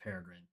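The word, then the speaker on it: Peregrine: I'm certain it's pronounced Paragrin like The Bird probably.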